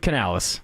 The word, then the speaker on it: Canales: Have you ever heard is it pronounced Canales? Dave Canales.